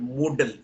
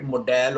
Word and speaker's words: modal: on modals now Mansi look at this word Moodle this is this word is most mispronounced word most of the teachers call it a model or a modal and this is this is